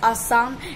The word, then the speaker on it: Assam: So please, it's आसाम एंड it's Prithviraj again, okay.